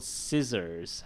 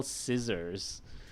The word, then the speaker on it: scissors: this one is that spelling doesn't tell you which one is being used for example scissors how do you spell scissors because the middle one is a z all right or for